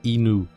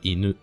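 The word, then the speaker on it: いぬ: difficile, mais c'est pas inu, c'est inu, inu. Alors, ça on verra plus tard, mais c'est pas ou comme en français, c'est u. On verra juste après. Inu.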